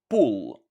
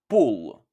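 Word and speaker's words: pullë: Now, remember that these two words are almost identical, so the only way to make the difference is by stressing the double L quite a lot.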